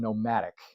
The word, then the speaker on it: Nomatic: Today, I want to talk about the toiletry bag from Nomatic. Now, people have been asking, how do you spell that? Nomatic. And so instead of nomadic, it's nomatic, right?